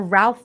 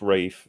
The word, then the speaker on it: Ralph: cool name wait because ray fines or ralph finds it's pronounced rafe i think sound rape is yes